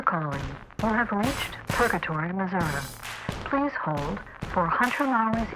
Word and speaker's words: Missouri: And I said, well, in Missouri, they're very weird about how you say it. Not everyone, but the old timers. It's Missouri. It is not Missouri, but you can get away with it.